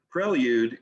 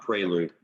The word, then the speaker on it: prelude: And yes, prelude is the correct pronunciation, not prelude.